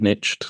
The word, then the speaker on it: niche: best at so yeah kind of niched or how Americans pronounce it niched into into Facebook ads